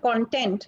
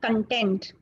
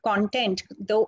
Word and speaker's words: content: First and foremost, let me just tell you how to pronounce this word. This is called content. It is not called content.